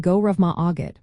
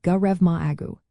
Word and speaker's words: go raibh maith agat: Pronouncing go rev ma augget might seem a little tricky at first but it is quite manageable. You can think of it sounding a little like grev ma au.